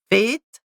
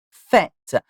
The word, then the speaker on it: fête: Have a look at fête, une fête, E sound, not fête, fête.